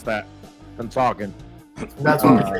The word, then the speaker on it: Pennsauken: me like 6 weeks to learn how to pronounce that, Pennsauken.